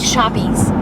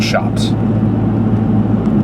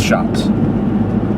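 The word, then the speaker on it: shoppes: small independent stores like shoppies shoppies s h o p p e s that's still pronounced shops yeah it's shops there you don't pronounce it shoppies my whole life has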